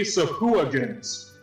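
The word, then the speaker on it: sahuagin: thank you d and d beyond for this pronunciation um you noticed three sephuagins which are fish i always always thought it was wagon because reasons but uh again uh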